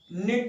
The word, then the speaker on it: knit: Those girls do नॉट, क्योंकि subject plural, those girls do नॉट knit the sweater, knit the sweater। knit होती है बुनना, के silent रहता है, इसको knit पढ़ते हैं, knit the sweater।